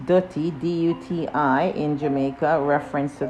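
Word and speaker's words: duti: you know that's from ghana okay so it's pronounced dirty d-u-t-i in jamaica reference to the ground or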